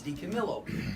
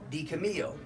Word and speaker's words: DiCamillo: California you always pronounced in Italian you pronounce the L so it's DiCamillo but if you're in California you see D cameo so that's why so